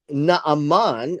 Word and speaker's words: Naaman: This is how his name is called. His name is Naaman, as from the sound